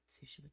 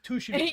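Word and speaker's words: Tsushima: And I asked, "Is this like Ghost of Sushima 2?" And they had like a quick and hurried discussion. They were like, they're like, "It's pronounced Ghost of Tushima."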